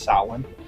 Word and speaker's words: Samhain: One of my favorite fun facts too is that Donald Pleasance and everyone on that team is pronounced Sam. It's Samhain, but phonetically in Gaelic it's spelled like that.